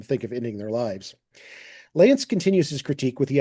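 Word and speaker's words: Lanse: And that's pronounced Lance like Lance a lot, but it's with an S, L-A-N-S-E, Hal Lance.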